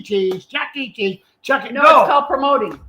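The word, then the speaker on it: Chuck E. Cheese: check it out promoting no it's called Chuck E cheese not Chucky Cheese it's Chucky Chuck E Cheese Chuck entertainment cheese that's what it means Chuck E cheese so they just came out saying not Chuck E cheese like Chucky from the movies it's Chuck letter E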